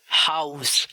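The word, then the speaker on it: Haus: Example हाउस, हाउस। German में हा आमतौर पर साइलेंट नहीं होता।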